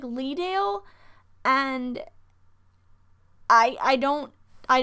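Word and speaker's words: Leadale: pronounce the show wrong i think it's pronounced leah dale but it looks like lee dale and i i don't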